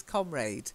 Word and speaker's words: comrade: And I just want to confirm, I say comrade, but seemingly the British pronunciation is comrade. So who knew? I sound like an American. So comrade is British. Comrade is British, yes.